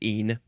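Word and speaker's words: -ene: Now, how do you pronounce this? Just een.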